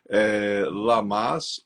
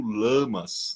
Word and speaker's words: Lammas: ah, Lamas ou Lamas, né? ah. As duas pronúncias estão corretas porque, Carmen, isso varia muito da região da Europa que você está, né?